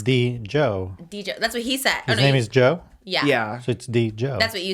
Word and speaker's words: Djo: Okay, yes, it is pronounced like Joe. So with a D in front of it.